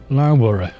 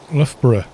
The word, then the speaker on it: Loughborough: It's an OU, so it should be pronounced this way. Yeah, right. It's like you can pronounce OU in about 5 million different ways, especially with a GH on them. Because you say Luff and then Borough instead of, you know, like,